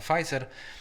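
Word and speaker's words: Pfizer: negocjował z koncernem medycznym na p wymawia się pizer że Drodzy państwo Europa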